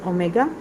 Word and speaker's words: omega: Okay, so one of them I will call it as omega, and the second one will be called omega square. Okay, omega and omega square. Omega, this is how you pronounce it.